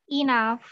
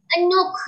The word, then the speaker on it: enough: Jadi kalau menemuin GH ya, GH di belakang kata itu bisa aja dia dibaca F ya, dibaca F. Ada yang nggak dibaca sama sekali.